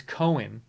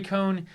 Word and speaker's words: Cohn: video right now from CNBC and they say cone so I don't know what this person was doing posting that it's Cohen everybody I've seen pronounce it his cone anyways